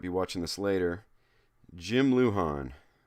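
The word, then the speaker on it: Lujan: Jim Luhan. Luhan is spelled L U J an Jim Luhan.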